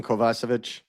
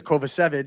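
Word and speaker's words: Kovacevic: know, I see people bringing up like Jonathan Kovasvich um or Kovich. That's a new pronunciation. I've never heard that. Well, that's actually how you pronounce his name, but he says Kovich so that get all shot when Alex Kovalev was here.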